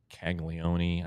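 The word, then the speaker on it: Caglianone: One of the better players though in the league was the Royals' first round pick last year, Jack Caglione, I believe is how it's said.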